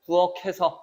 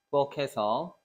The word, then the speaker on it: 부엌해서: 캐입니다. 개가 아니에요. 여기서 또 실수할 수 있어. 개가 아니라 캐야. 그냥 얘가 어떻게 된 거라고? 그냥 간 거라고. 이렇게. 정확한 발음은 그러니까 어떻게 해야 돼? 부엌해서 이렇게 발음해야 돼.